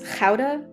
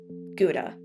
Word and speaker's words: Gouda: You gotta kind of get that guttural G in there. It's Gouda, and it's not Gouda. It's not Gouda either.